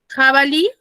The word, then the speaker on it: jabalí: tengo la palabra jabalí jabalí tiene su mayor fuerza de voz en la última sílaba que es en la liff porque digo jabalí y termina en vocal